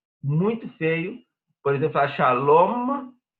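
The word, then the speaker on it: שלום: Então, shalom é shalom, com M marcado no final.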